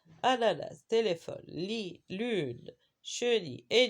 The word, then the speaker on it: ananas: Ananas. Dans le mot citron, la lettre N, on ne la prononce pas. Mais dans le mot ananas, bien sûr, on la prononce à 2 reprises. Na et na.